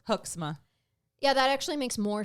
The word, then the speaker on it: Hoeksema: Well, he did let Lieutenant Joel Hoeksema describe it to the court because he had reviewed. You want to know how to pronounce a good Dutch name? But how? Hoeksema.